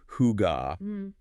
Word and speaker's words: hygge: The concept of hig, which for you listening is roughly pronounced hugga.